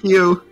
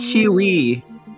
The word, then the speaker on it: queue: you're in a queue why is it spelled with so many ues i don't know it really really really really i don't know it smell like that it's still pronounced q i used to call